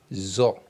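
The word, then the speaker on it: ظ: OK, donc on va lire ça. Zo, zo zo. Zo. Donc à partir de cette lettre jusqu'à cette lettre, ces quatre lettres là, ce sont des lettres emphatiques.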